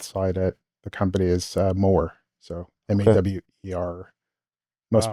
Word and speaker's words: Mawer: at the company is Mower. So Mawer. Most Wow. people pronounce it as Mauer. Mauer. That's how I said it. Yeah. I mean, it's phonetically it's Mauer. It's Mower. Yeah.